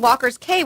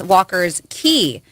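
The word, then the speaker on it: Walker's Cay: wrong i guess it's walker's key they said think like a bahamian i guess pronounced k like key because okay yeah fair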